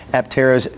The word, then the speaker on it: Aptera: this is Steven Fambro, Aptera's co-CEO. Steven, thanks for coming on. And do I have the name of that Is it Aptera? Is that how you say it? You got it right.